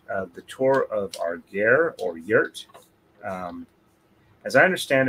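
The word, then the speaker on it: ger: identifying them, but and in English it's spelled G-E-R. Though I know the way I sound, it sounds closer to gear rather than gear, but all right, I'm about ready to going again here.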